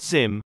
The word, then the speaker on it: Ziam: passport package had come ziam pronounced zim went to pick it